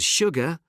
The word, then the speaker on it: sugar: Sure and sugar are the only two words in the English language that begin with SU and are pronounced sh.